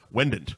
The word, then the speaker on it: Wendt: how people add an extra n in there wend W wend wend it's like the like